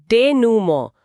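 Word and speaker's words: denouement: डेनूमो, उच्चारण ध्यान देने वाला है।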